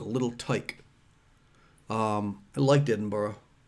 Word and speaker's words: Edinburgh: tyke um i liked edinburgh edinburgh the guy on the plane said it's like americans saying bread and butter that's how you say edinburgh so i never said edinburgh